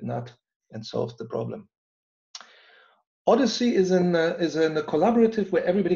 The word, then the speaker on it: OHDSI: OHDSI is pronounced OHDSI. And like the journey that Odysseus made after coming out of the Trojan War, going home, it took him 19 years to go home.